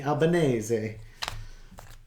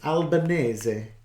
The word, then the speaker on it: Albanese: attention towards Australia and Anthony albaneze because that's how people would pronounce it it's Albanese and I just did